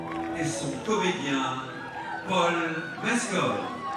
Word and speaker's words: Paul Mescal: et son comédien Paul Mescol. Paul Mescol, c'est c'est c'est Paul Mescal peut-être, mais peut-être qu'en américain, il faut le prononcer comme ça pour éviter de penser à du mescal justement.